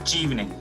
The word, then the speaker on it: Chevening: So it's called Chevening.